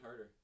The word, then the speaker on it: Huerter: How do you say his name? Kevin Herter. Kevin Huerter.